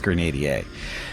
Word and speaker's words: Grenadier: why it's grenad a actually it's not Grenadier it's grenad a we're all pronouncing it wrong it's a French word it's not an English word that wasn't so difficult